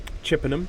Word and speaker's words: Chippenham: Chippenham, I believe it would be the southern pronunciation of that word, Chippenham.